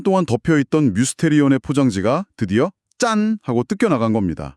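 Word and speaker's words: μυστήριον: 오 뮤스테리온. 발음이 약간 미스테리랑 비슷한데요.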